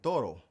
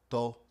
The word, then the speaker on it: todo: So, the key to mastering the pronunciation of the Spanish D inside of a word is pronouncing it like the th like we have in though or the. todo todo So, the Spanish word for each is cada.